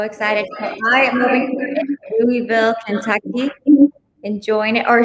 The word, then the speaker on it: Louisville: kentucky enjoying it or shall i say it correctly louisville kentucky louisville when i worked for the va i had when i became a rating specialist i had a uh instructor that was from louisville and he made sure every time everything you know it's spelled lewisville so i don't know why they say louisville i don't know we're in